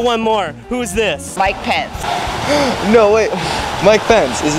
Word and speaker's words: Pence: It rhymes with sense. Pence.